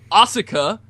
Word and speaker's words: Asuka: And we go to Asuka. Asuka. The U in Japanese is silent, like Shinsuke, Sasuke, Asuka.